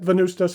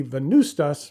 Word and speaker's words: Venvstas: It's spelled in Latin, where the letter U doesn't exist, but the phonetic sound of the letter does.